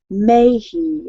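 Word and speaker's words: Mahy: And so I guess and his name is actually pronounced May, Ryan May, but it's spelled M-A-H-Y.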